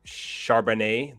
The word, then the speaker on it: Charbonnet: And for UCLA, you have Zach Charbonnet, the Chardonnay, the drink.